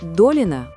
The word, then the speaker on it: Долина: В фамилии Долина ударение на букву «О».